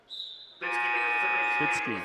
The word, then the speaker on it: Bitsky: Bitsky is the pronunciation.